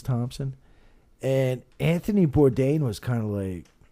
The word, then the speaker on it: Bourdain: Bourdain.